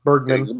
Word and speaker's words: Bergman: Written and directed by Ingmar, I can never say his name, Bergman.